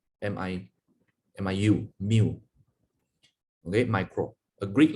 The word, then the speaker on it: mu: D，centi 是 C，milli 是小 m，micro 是这个好像 U 这样子，可是它的耳朵比较长。这个我们叫它什么？叫它 mu， is pronounced as mu， M-I-U, mu.